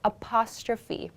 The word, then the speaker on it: apostrophe: is called an apostrophe apostrophe this word is pronounced apostrophe so in a sentence we would say never